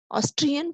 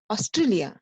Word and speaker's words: Austria: they makes mistake here they thinks Billups Australia it is not Australia it is Austria Austria in the Europe in